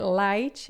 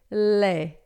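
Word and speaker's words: lait: Não é light, a gente vai dizer lé, tá?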